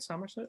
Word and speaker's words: Somerset: And then I was actually in Somerset. Am I saying it right? Somerset?